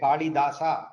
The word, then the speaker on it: Kalidasa: Kalidasa, all of you know. I'm pronouncing in Sanskritic way, Kalidasa, I say. I don't say Kalidas, okay?